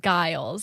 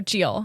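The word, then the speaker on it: Gillis: is it jeals um it's spelled g-i-l-l-i-s every time i see that name i've always like in my head said guiles so i'm glad i'm glad i know i know how to say it what is it jill's jeal oh geel there's yeah okay s isn't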